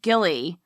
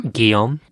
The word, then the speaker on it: Guillaume: Sadly, her son, Gilly, or how do you say this name? Guillaume.